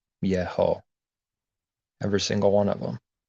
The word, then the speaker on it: Yeho: And they're always pronounced, they're always called out for Yeho.